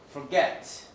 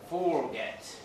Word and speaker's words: forget: Like sometimes we say forget, schwa. Sometimes we say forget, short of.